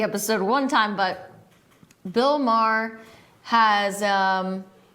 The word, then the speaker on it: Maher: It's not Maher, it's not Maher, it's not Maher, it's just Maher. So I don't know how I didn't remember that of watching the episode one time, but Bill Maher has, it's a funny show.